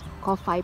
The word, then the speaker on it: Kowhai: You pronounce WH as F, kaya ang pag-pronounce, Kowhai Park.